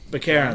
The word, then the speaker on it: Baccarin: How do you pronounce her last name? I never get it right. Baccarin.